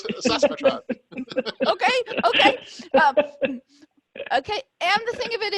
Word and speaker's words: Saskatchewan: And if I mispronounce this, you guys got, because I'm gonna say Sasquatch, but it's not that. It's Saskatchewan. Okay. Saskatchewan? Yes. Thank you. Thank you. Saskatchewan.